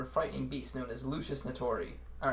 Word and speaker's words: Lusus Naturae: frightening beast known as lucius natori all right i don't actually know how to pronounce that but that's how they pronounce it in the ruby song called lucious notori people i've given you